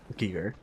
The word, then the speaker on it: Giger: It is giger. I forget about that. It's like uh it's everyone like pronouncing mispronouncing uh Moog.